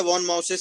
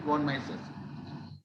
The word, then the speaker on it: von Mises: सर पहले तो मुझे लगा था वॉन माउसेस है क्योंकि माउस बना था, पर बाद में मालूम पड़ा वॉन मिसेस है। कौन कौन माइसेस हैं? MISES, यस सर। हाँ MISES यही स्पेलिंग है इनकी, वॉन माइसेस।